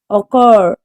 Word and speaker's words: occurred: Occurred. The stress is on the second syllable.